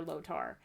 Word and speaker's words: Lotor: It was a before Lotor and a after Lotor. And it wasn't, and I might be saying his name wrong.